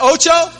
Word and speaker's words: ocho: Is that ocho?